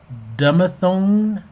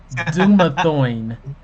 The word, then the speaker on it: Dumathoin: And then the final room of the dungeon is Temple of Dumathone. Dumathone? You draw a No, I don't card. know how to pronounce that either. It makes me think of sirloin, but it's Dumathoin.